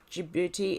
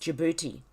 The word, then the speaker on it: Djibouti: An important follow-up to this story is that Djibouti is pronounced Djibouti. Okay, I was saying Djibouti, but it's pronounced Djibouti.